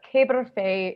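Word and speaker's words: caber féidh: is referred to as the caber faye okay a bit difficult to spell but que berfay is the pronunciation the caper fay was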